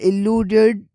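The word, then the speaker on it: elude: है अ लूड और ई से जो स्टार्ट होता है वो इ लूड ई लूड स्टार्टिंग वोवेल और स्ट्रेस में फर्क है जो सुनते ही क्लियर लगता है।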